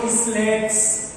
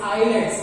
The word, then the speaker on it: islets: Please for heaven सेक इसको इस्लेट्स ऐसे गंदे से प्रोनाउंसिएशन मत करो, इट इज आइलेट्स, S here is साइलेंट, okay. जैसे इसलैंड नहीं होता, आइलैंड होता है।